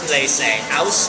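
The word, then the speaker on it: Auslese: more potential alcohol the next level is called they say as in house a u s l e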